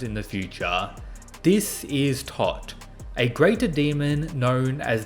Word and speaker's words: Tot: This is Tot, a greater demon known as the Saint of the End, which may have her name pronounced as Todd, but she is a